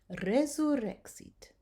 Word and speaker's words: resurrexit: I'm rolling the R because it's at the beginning of a word. Resurrexit.